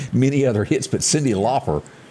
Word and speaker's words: Lauper: But Cyndi Lauper, you do pronounce it Lauper, don't you? Yeah, you do.